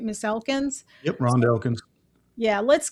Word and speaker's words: Elkins: So we're going to start out the next video with Miss Elkins. Am I pronouncing that right? Miss Elkins?